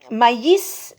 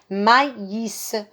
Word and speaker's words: maïs: seul je vais quand je vais donner comme exemple mayis et mais si vous mettez le mot et mais avec mois1 je vais lire mais mais la préposition mais de l'opposition alors que si je mets les deux petits points qu'on appelle le trait main sur le i je vais lire le à tous elle est le hit ussel et je vais prononcer mayis et maïs et autres choses tous